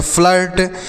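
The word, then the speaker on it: flirt: उसी तरीके से एफ एल आई आर टी तो इसे हम पढ़ेंगे फ्लर्ट। क्या पढ़ेंगे बच्चों? फ्लर्ट पढ़ेंगे।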